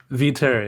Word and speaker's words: Viteri: do you say your last name for terry v terry yeah yeah yeah nailed it